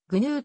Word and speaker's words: GNU: れることもある gnu はぐ new あるいはグヌーと発音する日本語訳では gnu